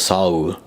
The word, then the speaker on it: Seoul: Like, well, technically it's 2 syllables, Saur.